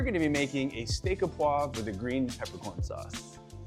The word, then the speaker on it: au poivre: So Martin, is it au poivre? Au poivre.